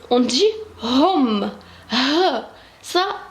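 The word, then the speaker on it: هم: Il avec S, ou bien E, on dit hom. Ça, le H en français, on ne le prononce pas, mais ici, on doit le prononcer.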